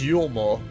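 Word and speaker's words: Eulmore: Pronounced Yulmore.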